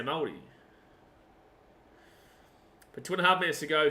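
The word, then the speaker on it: Māori: You can get a pass if you say Maori, but it's pronounced kind of with a D, right? That's why you hear me say like Maori, right? It's like they roll the R into a D.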